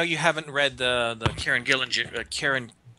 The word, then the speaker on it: Gillen: haven't read the Kieran Gillen. Is that how you pronounce his name? Gillen. Sounds either one works.